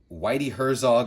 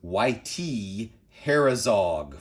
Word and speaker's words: Whitey Herzog: They had no clue who any of these baseball players were, and they pronounced Whitey Herzog as YT Herzog for some reason.